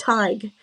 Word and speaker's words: Tadhg: His name's pronounced Tadhg because he said to me, it's tiger without the grr on the end.